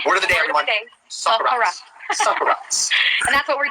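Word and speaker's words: socarrat: Soccerat. How do you say it? Yeah, soccerat. That's right.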